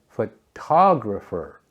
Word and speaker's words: photographer: in sentences for example in the word photograph the stress is on the first syllable photograph but in photographer it shifts to photographer the to is stressed getting this right can